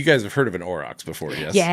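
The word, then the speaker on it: aurochs: Um uh you guys have heard of an orox before.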